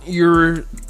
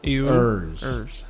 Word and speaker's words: Ewers: That EW gets me every time I try to say it. I don't know why. I've never been able to pronounce his name. You say ew? Ewers.